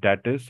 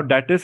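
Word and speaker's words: D-ATIS: that you get over datus or Attis now datus is not how we pronounce it we call it D atus so from now on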